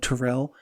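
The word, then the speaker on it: Terrelle: the ball a la the 77 catch season taro Pryor and I will call him taro because it is deserve to be called Terrell doesn't deserve to the proper pronunciation of his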